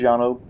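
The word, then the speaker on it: Llano: yeah this is little this is Yano uh again I hope I'm saying that correctly but I believe that's the way it's pronounced and we're going to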